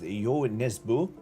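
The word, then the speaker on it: Nesbø: I think it's actually pronounced Y Nesbu because he's like Norwegian.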